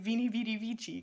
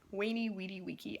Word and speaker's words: veni, vidi, vici: I made a whole, like, minute-and-a-half long video about this, because I am ticked off at people saying VENI, VIDI, VICI, because this isn't freaking Italian. It's Latin. Alright, VENI, VIDI, VICI.